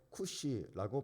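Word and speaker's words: כושי: 에디오피아인을 히브리어로 쿠시라고 발음을 하는데 우리나라 말로 우리 성경에는 구스인 이렇게 번역이 되어 있습니다.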